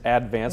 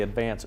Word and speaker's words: Advance: If you live here, it's Advance. Most people say Advance.